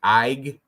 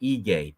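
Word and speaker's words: Ige: If he was a real UFC fan, he would know you say Eay. Dan Eay. But I was watching that thing and he kept saying Dan II.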